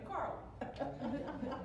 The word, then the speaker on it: Carla: in, and that was the first time I ever heard my name pronounced with an R in it. I've been calling all my life until Teresa came, and she turned me into Carla.